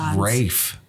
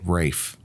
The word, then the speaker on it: Ralph: than Rafe oh God Ron just say it right it's Ralph it's Rafe that's how you say it Rafe I'm pretty sure Ray